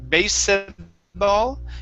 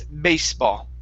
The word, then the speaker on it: baseball: here is baseball okay that e is silent so instead of basball it's baseball baseball baseball baseball all right